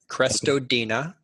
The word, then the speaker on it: Crestodina: I think my last name is my Twitter account, Crestodina. Spelled like it sounds.